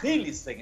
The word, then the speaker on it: Hillesheim: com a namorada dele, que é a Fabiola Hillissen. Essa é a pronúncia do nome dela, né?